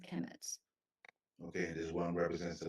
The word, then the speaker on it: Kemet: is the third word and they're both pronounced Kemet okay this one represents